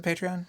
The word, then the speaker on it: Patreon: What is a Patreon, Charles? Patreon. So it's spelled Patreon. It's not like pay tree, like a tree. Okay. With bark. It's Patreon.